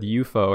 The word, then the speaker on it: UFO: Documentary from like 2002 John Keel said eupo and I was like what the heck why is he pronouncing it like that and then I looked into it like oh it's the right way to do it yeah that was the